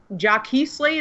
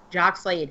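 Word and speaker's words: Jacques Slade: How is it, Jockey Slade or Jock Slade? Jack Slade. Jock Slade.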